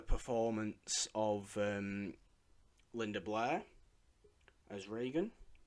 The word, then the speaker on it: Regan: of Linda Blair as Regan Regan not Reagan that was the president Regan Regan Regan yeah